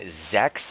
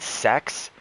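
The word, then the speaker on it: sechs: Einstein sex zeben six the number six is pronounced Zex and so he asked me that question in class and instead of saying Zex I said sex and it kind of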